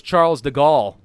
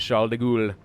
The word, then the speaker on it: Charles de Gaulle: I thought it was Charles de Gaulle. You know, Charles of Gaul, which was France, right? But the pronunciation, apparently, is Charles de Gaulle.